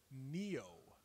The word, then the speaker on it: Nioh: Okay, the new game called Neo, not to be confused with Nier, or to be confused with Neo from the Matrix. It is spelled Nioh.